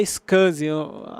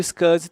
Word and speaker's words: SCSI: Tem a pronúncia aqui, é SCSI.